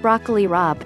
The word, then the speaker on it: broccoli rabe: drained snow peas broccoli rabe 100 milligrams calcium pronounced broccoli rabe this is another vegetable I've never actually eaten